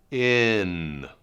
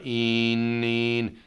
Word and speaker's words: in: In. Not een. If I say een, my tongue is tighter, my tongue is higher up.